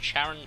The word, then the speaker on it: Charon: There's Pluto and Charon. Or Charon, you know how you want to pronounce it.